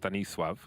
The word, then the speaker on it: Stanisław: Stanislaw is 9-0 at present. 9-0 in 5 rounds. Not bad for an in-game leader. Stanislaw in Polish is pronounced Stanisław.